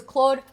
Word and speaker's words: Claude: And because Claude rhymes with Maude, so it's Claude and Maude forever.